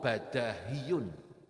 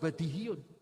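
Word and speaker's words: بداهي: Menurut mazhab Basra , itu badahiyun karena qiyasi. Mazhab ahli tata bahasa Basra terkenal karena qiyasi, jadi mengapa badahiyun? Karena kemudian menjadi badihah. Sama seperti Madinah. Madinatun, madaniyun. Bukan madiniyun. Ah, tetapi orang-orang Kufa, sebagian membacanya sebagai badihiun, bukan badahiun. Jadi, perdebatan kami hanya berputar-putar di sekitar itu.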